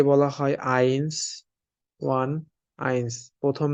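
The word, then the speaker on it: eins: জার্মানিতে ই বলা হয় আর এই দুইটা একসাথে থাকলে আমাদের উচ্চারণ হবে আই এর মতন এটা আলফাবেটে পড়ছিলাম সো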